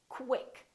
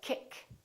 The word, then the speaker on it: quick: they're pronounced as kW so there's a little W sound in here so I want you to say quick pronounce the kW quick quick don't say quick or kick say quick let's practice